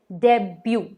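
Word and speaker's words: debut: अगला वर्ड है डेब्यू। जब पहली बार कोई, जैसे फिल्म स्टार कोई मूवी करता है तो उसे कहते हैं डेब्यू। डेब्यूट नहीं, डेब्यू।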